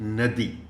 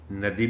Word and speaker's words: ندی: رہا ہے۔ یہ لفظ ندی، اس کے دو تلفظ ہیں اور دونوں صحیح ہیں، ندی بھی ٹھیک ہے اور ندی بھی ٹھیک